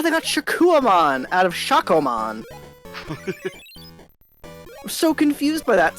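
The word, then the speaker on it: Shakkoumon: They keep saying Shakuamon all the time. It's like, no, it's Shakomon.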